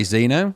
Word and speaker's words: Xeno: I presume you pronounce it Xeno? I would say Xeno. Yeah, Xeno. Xeno, so like Xenomorph, but not quite as interesting as Xenomorph.